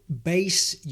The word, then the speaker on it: bass: The first word is bass. Well, and also bass. So bass, I think, will be more familiar with.